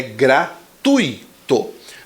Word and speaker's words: gratuito: a pronúncia correta é gratuito não existe um acento ali na letra D Ele